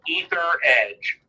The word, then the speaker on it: Etheredge: it the last name is as rich and it's spelled e th ER e DG e so etherege and my seven card comes up I think